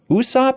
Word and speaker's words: Usopp: around and see everybody's different moves like what Usopp is that how you say his name yeah